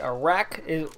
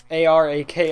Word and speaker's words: ARAK: But yeah, so the next one we have is the Arak. A-R-A-K, Arak, that's what I'm going to call it.